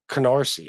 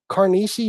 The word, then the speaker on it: Canarsie: It's not like I'll never be able to understand why a simple name is that hard to pronounce. Like Canarsie.